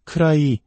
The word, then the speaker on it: could I: 쿠드 아이라고 또박또박 발음하면 무척 어색하게 들립니다. 디사운드가 모음과 모음 사이에 오면서 우리말의 리을 받침과 유사한 부드러운 소리로 변합니다. 그래서 크라이 혹은 크라이게처럼 들리게 됩니다.